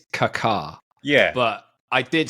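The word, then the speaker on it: Kaká: Kaka or Kaka how do how do we pronounce Kaka I think it's I think it's Kaka yeah but I did say when I interviewed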